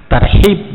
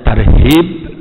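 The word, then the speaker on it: ترحيب: hak kecil bukan hak besar karena itu berbeda tarhib dengan hak kecil artinya Roha Bayur ah Ibu menyambut dengan kegembiraan kedatangan bulan Ramadhan tapi kalau kita membacanya tarhib orang Agan artinya lari dari Romadhon Starship itu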